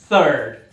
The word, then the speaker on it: third: Por isso pratica bastante o som do TH, é um pouquinho desconfortável, língua entre os dentes e sopra. Third.